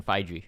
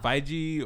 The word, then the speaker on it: Feige: it Feige or Feige? I don't know. Feige. F-E-I-G-E. I'm willing to bet it's Feige Yeah.